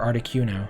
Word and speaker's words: Articuno: Is it Articuno or Articuno? Articuno, probably. Hard C. Hard C would probably make more sense.